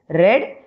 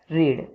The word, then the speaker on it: read: For past tense, we will pronounce it as read, and for future and present tense, we will pronounce it as read.